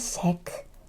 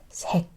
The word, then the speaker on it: 색: Whenever a consonant is down here, I kind of cut the sound a little bit. It's not 색, it's 색, 색. Very small pronunciation.